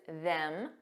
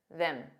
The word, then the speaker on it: them: pronunciation of them because there is a strong pronunciation which is them M but there's also a weak an unstress pronunciation M them so it's just that vowel sound that that sounds more relaxed and unstressed this is another reason